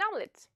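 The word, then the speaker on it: омлет: Omelette, an omelette, omelette. The letter O is not stressed and it comes before the stressed vowel. Therefore, it's pronounced A. Omelette.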